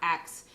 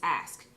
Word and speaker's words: ask: say it this way it's not acts it's ask but little did i